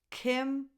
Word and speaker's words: Kim: Kim Basinger. Kim lacks I, as in the word it.